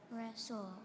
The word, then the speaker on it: wrestle: them not to wrestle wrestle r e s s l e wrestle that's incorrect Russell is w r e s t l e it's got some of those silent letters in there all right Zach you're